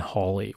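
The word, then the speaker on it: Halley: to begin is with Sir Edmund Holly or Haley as he's pronounced the United States he's the guy who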